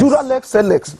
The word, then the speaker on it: dura lex sed lex: Dura lex sed lex.